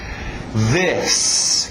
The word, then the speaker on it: this: This, aquele TH de zorba, this, ok? Cuidado com o this. A tendência de dizer esse I, som de I, e você vai acabar dizendo these. E these é a palavra...